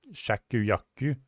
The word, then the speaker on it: Shakuyaku: Her name is spelled S H A K U Y A K U. So it's Shak Shakuyaku, but Shaki is just easier to say.